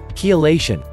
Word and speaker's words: Chelation: First, pronounce it correctly. Chelation.